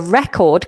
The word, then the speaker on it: record: But if it's a a noun, a physical thing, if you're listening to my recording, then um that record has the stress at the beginning. Okay? So the record cuz this is a world record.